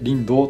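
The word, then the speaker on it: 竜胆: 肝というとですね、竜の肝と書いてリンドウと読むんですけ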